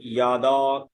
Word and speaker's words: যদা: যদি যদা থাকে, যদা অন্তর্য রয়েছে, তখন এই ক্ষেত্রে আমাদের উচ্চারণ হবে ইয়াদা, ইয়াদা। তখন এই জয়ের উচ্চারণ ইয়া, ইয়া, জয়ের উচ্চারণ হয় ইয়া।